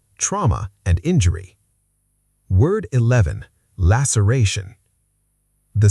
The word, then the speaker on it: laceration: Laceration. The C makes an S sound here, not a K. Laceration.